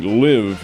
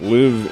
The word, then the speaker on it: LIV: The tour that you're referring to is the LIV International Tour. LIV is spelled L-I-V, and it's an international financial concern backed by the Saudi and Arabian government.